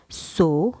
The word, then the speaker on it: saut: Sauterelle, sauter, saut et sursauter. نبحث. ماذا نلاحظ؟ نلاحظ أن S-A-U-T, le A-U, ça se prononce O.